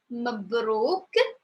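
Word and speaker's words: مبروك: So the first one is pronounced Mabruk, Mabruk, Mabruk, because we have the O, and I know for people who are new, they said, oh my God, 3 consonant, no vowel, and I know it's a little bit hard.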